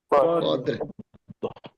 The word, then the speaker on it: قدر: হ্যাঁ, তারপরে লাই কফ, কফ দাল জবর কদর, তার সাথে রটা হালকা উচ্চারণ করে পড়তে হবে, করে পড়তে কদর। হবে। কদরে হ্যাঁ, তাহলে إنا أنزلناه في ليلة القدر إنا أنزلناه في ليلة القدر قدير বলবেন না কদর قدر আর এই হুটা টান